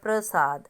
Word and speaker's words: प्रसाद: अगला शब्द है हमारा प्रसाद अब प्र बोल रहे हो जब आप प्र र के बाद अ की साउंड हो रही है तो शुद्ध वाला रूप हमारा प्रसाद है और जो हमने अशुद्ध